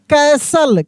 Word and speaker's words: castle: वैसे ही देखेंगे यहाँ पे लिखा है CASTLE, तो यहाँ पे टी साइलेंट है। क्या है? टी जो है ये साइलेंट लेटर है यानी टी का ध्वनि नहीं निकलेगा, यानी हम लोग लिखेंगे जरूर लेकिन उसको पढ़ेंगे नहीं। तब इसको हम लोग कैसे पढ़ेंगे? इसको पढ़ेंगे हम लोग कैसल।